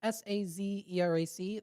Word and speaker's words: Sazerac: like the Sazerac, I think is how it's pronounced. It's Sazerac.